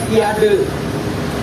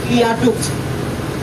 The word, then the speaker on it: viaduk: Orang Bandung nyebutnya viade. Ya, itu langsung diralat sama orang Belanda asli. Viaduk. Itu pengucapan yang benarnya, pronunciation yang benarnya kayak gitu, viaduk.